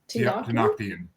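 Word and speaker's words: Tenochtitlan: Tenoctian.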